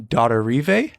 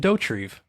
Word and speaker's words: Dauterive: started this podcast i thought it was jim daughter river but i say i was watching the behind